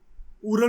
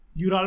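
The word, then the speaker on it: Ural: ये उरल mountains हैं, यूराल mountain कह लो, उरल माउंटेन कह लो, प्रोनाउंसिएशन से कुछ फर्क नहीं पड़ता।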